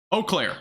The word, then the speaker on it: Eau Claire: I think that's French, if I'm not mistaken, which I never took French. I'm not from Wisconsin, so that makes sense. Eau Claire. Eau Claire? Oh, that's it?